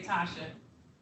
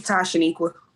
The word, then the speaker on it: Tashaniqua: Because I was gonna say Tasha. It's Tashaniqua.